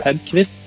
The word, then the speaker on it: Hedkvist: thanks for having me my name is radkivis yeah it's a Swedish last name so it looks like it's hard to pronounce maybe but yeah I've been a developer